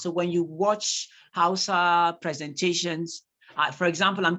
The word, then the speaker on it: Hausa: the H sorry no in the word hausa the age is pronounced when you listen to hausa speakers they do not say they say hausa okay good thank you